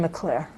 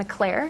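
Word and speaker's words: McClaire: director who is the chief deputy director Megan McClure Megan McClair McClair how do you spell that Megan is m-e-g-a-n mcclar is MC capital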